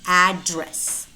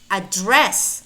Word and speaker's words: address: address and there is a shift in the stressed syllable if it is the noun it has to be address address on the other hand might be used either as a verb or as a noun address address also well